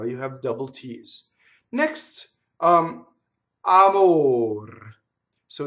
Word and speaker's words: amor: So often the mistake I hear is a double M. Amor. Did you see that? That was a double M. How did I make it a double M and it's wrong? How did I make it wrong? By I phonate on the M. Amor. Wrong in this case.